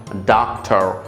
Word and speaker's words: doctor: আমেরিকানরা এখানে যে কাজটি করে, এই ডকের উচ্চারণের সময় তারা ডা উচ্চারণ করে, আর ও আর রাটা তারা লাইট করে সাউন্ডে রাখে, মানে একটু করে উচ্চারণটা করে। সেক্ষেত্রে এই উচ্চারণটা হয় অনেকটা এরকম, ডাক্তার ডাক্তার।